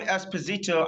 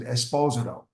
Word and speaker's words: Esposito: And in Italy, they pronounce it Esposito, not Esposito. Okay.